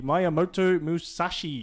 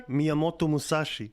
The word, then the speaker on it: Miyamoto Musashi: But yeah, this is the new Legendary Warrior, the Miyamoto Musashi. Oh, you butchered that. Oh, go ahead. Go. Miyamoto Musashi.